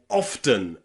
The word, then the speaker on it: often: But today, remember, the letter E is very often pronounced as a schwa sound, okay? In words like happen or open or often, okay? The E and the N there is pronounced with a schwa.